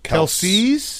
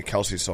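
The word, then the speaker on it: Kelce: Kelsey's Kelse brothers.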